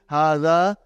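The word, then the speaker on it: هذا: See, it is pronounced like hara. But this alif is not written.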